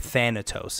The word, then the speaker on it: Thanatos: Thanatos, I believe, is how you pronounce it.